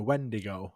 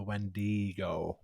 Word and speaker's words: wendigo: pronounce this one and I do believe both pronunciations are correct however I also found a third one but I just leave that one so it's the wendigo or the wendo wendo okay wendo the